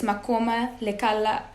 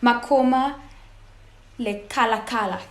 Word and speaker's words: Makoma Lekalakala: So the two South African activists, Makoma Lekala, I don't want to butcher this name, I want to say it properly. Makoma Lekalakala, yes.